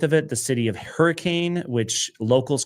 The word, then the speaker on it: Hurricane: But the reason for it is the settlers that came through here in the 1800s they spoke English in a different way as European settlers often do and they pronounced it hurricane.